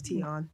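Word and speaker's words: Tionne: name you mean tion I never heard somebody say to you T-Boz's name is teon yeah yeah oh well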